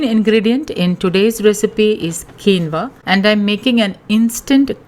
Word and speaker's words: quinoa: for gluten-free alternatives by the way quinoa is pronounced as quinoa and not keno WA as it is written I have already shared